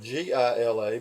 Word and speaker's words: Gila: cliff dwellings it's spelled GI la but it's pronounced gila because in Spanish a G is an H he looked cliff dwellings